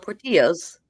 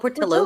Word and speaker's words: Portillo's: Not Portillo's. Because it's spelled Portillo's, but they call it Portillo's.